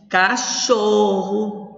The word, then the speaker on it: cachorro: Cachorro, o xó. É a sílaba tônica.